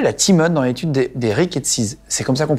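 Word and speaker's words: rickettsies: Et après, tu te lances à l'hôpital, la Timone, dans l'étude des rickettsis. C'est comme ça qu'on prononce?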